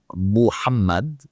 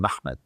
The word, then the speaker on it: Muhammad: So you have the name Muhammad with the U vowel there and then you have through transcriptions from various sources not just one multiple lines of transcription that is writing this name in scripts where we can see the vowels the pronunciation Mhmmed.